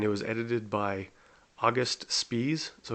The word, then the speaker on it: Spies: So his last name is spelled like spies, Spies. But I do know that in German language, if there's an IE like that, it's pronounced, so his name would be pronounced Spies.